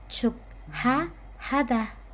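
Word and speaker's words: 축하하다: Nah, pengucapannya satu per satu memang seperti ini. Chuk ha hada.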